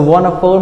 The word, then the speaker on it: wonderful: So wonderful means great, means fantastic, means something that is cool. We call wonderful. Wonderful. So the stress is on the first syllable.